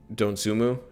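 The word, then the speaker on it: Dosunmu: outmatch us you could say uh again with don sumu is how you pronounce his name ayo dontsumu uh i don't think michigan has the guys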